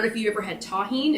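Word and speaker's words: Tajín: it correctly but anyway you saw me spell it t-a-j-i-n but it's pronounced tahin um it's really good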